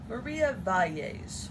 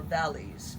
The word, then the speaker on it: Valles: I think it's pronounced Amma, A-M-M-A, and it is a pattern by Maria Valles, or Valles, V-A-L-L-E-S.